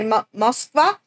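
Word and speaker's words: Москва: Though it's ironic, we call it Moscow, but the Russians say Moskva, which might not seem ironic until you realize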